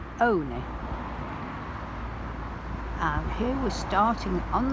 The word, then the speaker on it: Olney: which some people pronounce only because it's spelt like that but a nice gentleman in the museum told me last year that locals pronounce it only and here we're starting